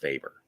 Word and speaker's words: Weber: Although, Max Weber, I will not take. It's Max Weber. Deal with it.